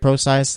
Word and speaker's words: Prosise: time to give up my Eddie Lacy CJ Prosise thing that's how you pronounce his last name camera exactly but not